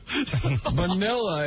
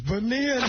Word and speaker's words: Bonilla: Vanilla, it's spelled, but it's Bonilla nonetheless. Holy Jesus.